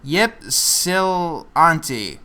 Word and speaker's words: Ypsilanti: I cannot pronounce this word. Ypsilanti.